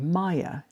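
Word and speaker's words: Maiia: And the third one that has quite a few listings is called Maya and it is spelled M A I I A.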